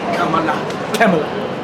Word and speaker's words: Kamala: Kamala.